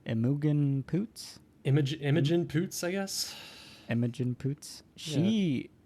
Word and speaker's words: Imogen Poots: getting confused speaking of which how do you pronounce her name emogen poots image imogen poots i guess emojin poots she she is very